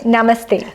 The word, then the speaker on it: namaste: Mane namaste.